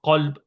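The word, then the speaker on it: قلب: It's very important to actually pronounce the words correctly, because if somebody pronounces one letter in place of the other, so qalb, kalb, two different words.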